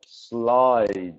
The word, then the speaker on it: slide: Now that word is pronounced slide. Yeah. Yeah, the D sound is important.